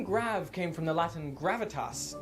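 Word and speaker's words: grave: well the answer is grade or rather grav as it would have been pronounced in the original French you see the grav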